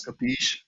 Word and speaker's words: Kapeesh: I pronounce it as Kapeesh, and when people see the spelling, I have a double E in my name, and sometimes people stress that, and then it becomes Kapeesh.